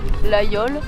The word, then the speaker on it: Laguiole: Fromage produit à Laguiole, à prononcer l'aïole, par des vaches nourries sur l'Aubrac.